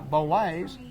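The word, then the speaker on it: Bollé: Bolay. You said it right. Bolay.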